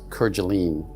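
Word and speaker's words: Kerguelen: Kirgalene Island, some pronounce Kergene.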